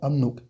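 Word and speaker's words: 압록: Et si on le lit rapidement, amnok, amnok. On reprend le B qui se transforme en M, et juste après, on reprend le L qui se transforme en N. Ça se fait un peu moins naturellement que pour umlio, mais à force, vous allez voir que c'est vraiment quelque chose qui va rentrer. Ap, donc, ça se lit bien amnok.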